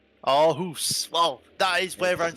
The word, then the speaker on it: Aarhus: It's gonna be very hard for you to pronounce, Chris, but we can try. It's Aarhus. Aarhus.